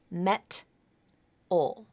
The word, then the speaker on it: metal: first syllable met o but that's not how it's pronounced that t will change to a flap because of the vowels and the stress it's between vowels and there uh it's unstressed and it will reify and it sounds like me metal metal metal that's the most common